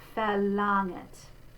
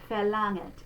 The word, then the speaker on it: verlangt: And the NG spelling, again, we're just going to say we're not going to go g. So verlangt. It's not verlangt. And again, it's the bright ah. I want to remind you because I can just hear students doing verlangt, and that's not it.